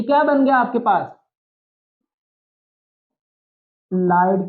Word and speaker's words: ylide: बन गया आपके पास लाइड की फॉर्मेशन होगी ओके इसको यलाइड नहीं पढ़ना आपने वा य पर साइलेंट है स इसको लाइड बोल तो देखो एक ही